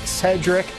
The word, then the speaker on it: Sherdrick: Clint Dalzell, Dallas, Cedric Bonner. It's spelled Sherdrick, but it's pronounced Cedric.